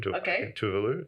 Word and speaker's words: Tuvalu: Tuvalu, is how you say it.